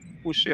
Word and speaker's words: Pouchet: Pouchet, I hope I pronounced that correctly.